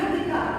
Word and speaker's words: Hrithika: Hi, I'm Vika. The H is silent.